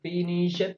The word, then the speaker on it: finished: Esa palabra finished se pronuncia finished con una T al final. Esa ED suena como una T.